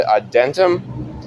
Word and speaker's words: Adytum: the Builders of the Adentum, ADYTUM, I believe that's how you say it, Adentum, or Adentum.